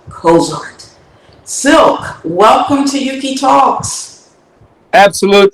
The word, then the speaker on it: Cylk: Cylk is pronounced Cylk, like elk, kind of like with elk with a C in front of it.